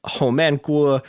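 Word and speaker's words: Homan Kwok: Steele had claimed that Home Gu, which is Okay, so this is where things get weird.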